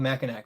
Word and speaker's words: Mackinac: Yes, it is spelled Mackinac, but spelled pronounced Mackinac. Very strange.